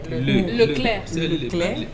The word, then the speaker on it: Leclerc: Leclerc. C'est que je prononce bien.